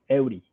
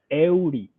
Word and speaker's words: Eury: How do we pronounce Eury Perez's first name? You got it right there. Eury. Say it again for me. Eury.